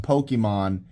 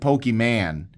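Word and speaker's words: Pokémon: This is how your dad says Pokemon, even though he knows good and well it's pronounced Pokemon. He calls it Pokimane.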